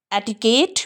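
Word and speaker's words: etiquette: कई को स्प्रेड नहीं करेंगे क्योंकि इस पर स्ट्रेस नहीं है. ठीक को भी नहीं करेंगे क्योंकि इस पर भी स्ट्रेस नहीं है. इस हल्का ठीक को करेंगे क्योंकि अंत में आ रहा है. एटिकेट या एटिकट ये नाउन है.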